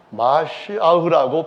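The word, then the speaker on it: מָשִׁיחַ: 이런 사람들을 성경에서는 히브리 말로 말할 때는 마시아흐라고 표현합니다.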